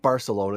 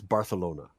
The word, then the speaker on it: Barcelona: A celebrity Ben story of the day offering comes to us from Barcelona, which is the proper way to say it. Not Barcelona, it's Barcelona.